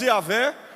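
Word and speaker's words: Javé: h y H w nós pronunciamos yavé ou na transliteração Jeová mas significa o senhor que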